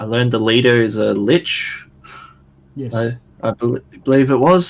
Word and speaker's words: lich: Very similar magics, but greater mummies are normally ancient high priests, and liches. Lich is the proper pronunciation.